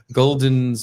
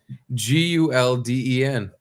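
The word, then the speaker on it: Gulden's: Golden's mustard. Yeah, it's Gulden. Oh fuck. Yeah, no O. I feel so embarrassed now. You should be very embarrassed. It's not Gouldens.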